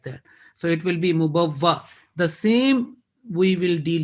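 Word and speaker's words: مُبَوَّأ: करें तो कैसे पढ़ेंगे, because this alif with fatha is a hamza, is a basically is a hamza, so we will deal like a hamza. Mubawwa, that will be the pronunciation in stopping. Mubawwa in continuation. Mubawwa, this is comes in Surah Yunus. Mubawwa, if we continue. If we stop, mubawwa, this alif was a hamza.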